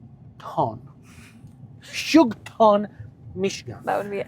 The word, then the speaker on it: Houghton: It's not that I can't pronounce it, I just want to make sure I pronounce it correctly. So the town doesn't get offended. Exactly. So it's called Houghton.